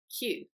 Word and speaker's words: queue: in a queue and it's confusing because the sound of the word it's very short whereas the word itself contains a lot of letters and that makes it difficult so this word is Q and the final word